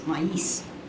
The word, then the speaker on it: maíz: Helen said, the Spanish word isn't pronounced with a long A, Nancy. It has 2 syllables, maíz.